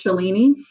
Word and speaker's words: Shalini: um it's pretty much I don't correct people if they say my name as shelen because that's name to